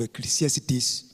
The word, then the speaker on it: Ecclesiastes: I want to just share from the Word of God in the book of Ecclesiastes, chapter 10 and verse 10.